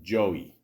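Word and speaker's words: Joi: She plays a character named Joey, which is spelled Goi. I'm almost positive that's how you spell it.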